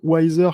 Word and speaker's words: YZR: Donc Wiser, oui, Wiser qui se prononce donc Wiser comme, bon, plus sage en anglais, Ouais.